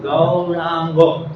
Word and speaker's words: Gauranga: It's like 3 syllables, yeah? Gauranga. Gaurango.